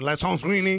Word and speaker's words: Alessandrini: He actually doesn't even pronounce the A. He's like, hello, this is Romain Alessandrini.